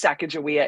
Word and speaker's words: Sacagawea: It's Sacagawea. It just looks weird when you like spell it.